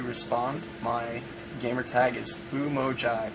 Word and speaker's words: FumoJive: My gamer tag is FumoJive. Everybody mispronounces this. FumoJive, Famo, Jive, whatever. But here's how you spell it. FOO space MO space JIVE.